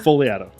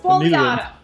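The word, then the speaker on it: Fogliato: Foliato. Gosh, it's that G. It's the G. Just pretend it's not there.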